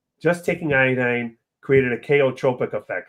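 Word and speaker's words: chaotropic: Abraham, we showed in some people just taking iodine created a kaotropic effect. It's spelled C H AO T R P O I C. A chotropic effect because we don't know the mechanism of it means to displace.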